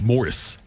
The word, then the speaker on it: Maurice: Listen, I think, honestly, and I'm not saying this to correct you, but I think it's Morris Gibb. I know it's spelled Maurice.